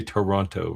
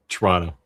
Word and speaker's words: Toronto: Toronto, or do you say you say Toronto, right? in Canada, it's just kind of become Toronto. Like a faster version of it. Almost one syllable.